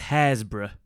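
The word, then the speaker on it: Happisburgh: I just arrived in the correct way of saying it is hazra so that fell I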